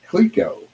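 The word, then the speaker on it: Clicquot: see that dude and this is pronounced cleco let's go club ginger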